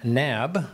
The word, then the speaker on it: Knabb: Knabb, with a K, but not pronounced, who is in the